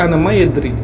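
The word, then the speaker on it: أنا ما أدري: তারপর হচ্ছে আমি জানি না, এটা আরবিতে এইভাবে বলবেন আনা মায়েদ্রি। যদিও এই কথাটি অনেক বাঙালিরা বলে থাকে আনা মাফি মালুম, কিন্তু এর অরিজিনাল উচ্চারণ হচ্ছে আনা মায়েদ্রি, আরবিয়ানরা এভাবে বলে।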